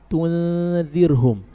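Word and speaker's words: تنذرهم: Hanya pada lafaz tunzirhum, jangan bibirnya monyong di tu terus tunzirhum, ini salah. Berapa harokat di situ dhammahnya? Hanya satu harokat, iya kan? Maka dibaca cukup memonyongkan bibirnya satu harokat saja.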